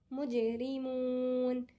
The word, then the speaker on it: مجرمون: مجرمون أنا سكنت الحرف وجاي الحرف اللي قبل الأخير مد، يبقى أنا مد اسمه مد عارض للسكون، أنا عرضته للسكون فيمد.